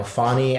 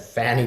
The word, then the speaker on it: Fani: to the public uh I know fonnie and I mispronounced her name and said Fanny before I think it's funny